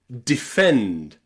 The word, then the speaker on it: defend: You'll also find the letter E pronounced I in words that have two or more syllables, but the I syllable is unstressed. The syllable with the letter E is not stressed.